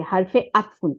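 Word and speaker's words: حَرْفُ عَطْفٍ: এটাকে বলা হয় আতফুন আইন জবর তর উপরে সুকুন ফার নিচে দুই পেশ হারফু হার এর উপরে জবর র এর উপরে সুকুন ফার উপরে পেশ একটা পেশ হারফু তারপরে আইনের উপরে জবর তর উপরে সুকুন ফার নিচে দুই জের তাহলে হারফু আতফিন এটাকে বলে হারফু আতফিন এটার ইংরেজি হচ্ছে কনজাংশন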